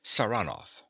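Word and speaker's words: Saranoff: him around this way he pronounces the name with a stress on the second syllable saranov Nikola yes sir he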